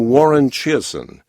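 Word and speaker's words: Warren Chiasson: here's a fellow named Warren Chasin. Warren Chasin, some people call him. It's spelled a little differently.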